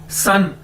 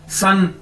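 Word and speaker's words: 三: जी एस ए एन सन सन सूरज वाला जिस तरह हम सूरज को बोलते हैं ना सन इसी तरह सन एस ए एन चाइनीज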